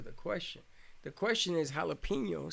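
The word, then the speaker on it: jalapeño: That's why in jalapeno, the J is pronounced like an H. We don't bother changing the H in the J in jalapeno, like, because in Spanish J means Okay, H.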